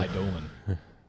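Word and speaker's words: Eidolon: bronze Sable and hopeful idon I mean one of these creatures is pretty good but the sorry idolan idolan is the correct pronunciation um minur yeah I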